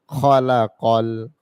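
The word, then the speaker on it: خَلَقَ: লামের জবর লা আল্লাহ জাল ইয়াজি আল্লাজি খর জবর খ লামের জবর ল খলা কফের জবরলাম কল এই কফটার উচ্চারণ হচ্ছে গলা থেকে খলা কল খলা কল খ এটা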